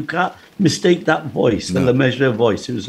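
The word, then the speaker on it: Le Mesurier: Now, how do you know how to say it? Lemessurier. John Lemessurier, yeah. It rhymes with treasurer.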